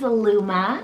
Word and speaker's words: Luma: meaning italian another four letter option here is luma spell l-u-m-a luma this one always makes me